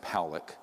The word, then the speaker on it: Poock: 600,000 views this man William poock is pronounced Pock uh was a man